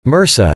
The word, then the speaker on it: MRSA: A good example is methicillin-resistant Staphylococcus aureus, MRSA, pronounced MRSA, an infection commonly acquired in hospitals.